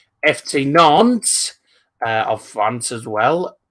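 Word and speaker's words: Nantes: united Michelin Monaco FC Nance that is how it's pronounce by the way psvi Northern when it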